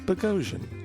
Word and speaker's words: Boghossian: And We the had a correct nice- pronunciation of his name. Indeed. Like explosion, Yeah. as he explained. Boghossian.